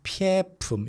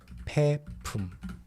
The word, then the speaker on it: 폐품: The pronunciation is not 폐품. You don't have to try to sound it like 폐. It's 폐품. Okay, 폐품.